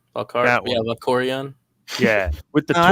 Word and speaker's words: Valkorion: Valkorion? That Yeah, one. Valkorion.